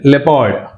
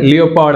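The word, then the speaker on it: leopard: చూడండి ఓ is silent లెపార్డ్ అండ్ జపాడీ right జపాడీ అంటే ఓ is silent లెపార్డ్ అండ్ జపాడీ అంతేగాని లియోపార్డ్ అనకూడదు right లెపార్డ్ coming to silent P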